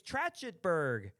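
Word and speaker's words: Trachtenberg: I can't pronounce the name. David Trachenberg. It's so many. It's Tratchenberg.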